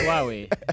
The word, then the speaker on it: Huawei: Huawei or I think we say, I hear that we say it wrong. Is it Huawei? Yeah, it's Huawei. There's no who.